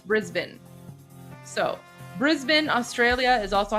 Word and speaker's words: Brisbane: Tommy, it's not Brisbane, it's Brisbane.